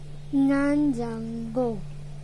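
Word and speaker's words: 냉장고: Now I'll teach you how to pronounce it. Nanjango. Nanjango. Nanjango. Nanjanggo.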